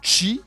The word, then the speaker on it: Qi: et pourtant c'est passionnant grâce au CHI qui s'écrit QI absolument et qui se prononce chi le centre des énergies